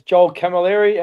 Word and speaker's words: Joel Camilleri: Am I pronouncing it correctly, the last name? You're doing it better than most. Yeah, it's Joel Camilleri, and the nickname's, so Joel Camilleri.